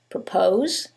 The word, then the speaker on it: propose: However, in the first one, it's the second syllable that's stressed, and in the second one, it's the first syllable, and that changes the pronunciation completely. The first word is propose, and the second word is purpose.